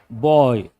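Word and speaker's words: buoy: How do you pronounce this? Boy.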